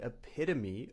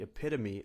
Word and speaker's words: epitome: For example, she is the epitome of kindness. She always helps others out. Or you could say, Albert Einstein was the epitome of intelligence. Epitome. The stress is on the second syllable.